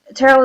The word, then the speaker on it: Terell: seeing Erica so um Terell is pronounced like Carol with a t you may call me Terell you may call me